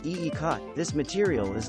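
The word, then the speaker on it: ikat: try it in your contemporary or eclectic room pronounced eecot this material is not so much a pattern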